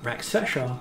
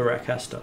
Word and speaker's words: Rakasta: Not the Raksasha, the Rakasta. Yeah, yes.